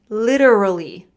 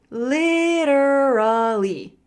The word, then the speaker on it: literally: Literally. Look at the word stress. Literally. Literally. Literally. And because I'm American, I use that flap T.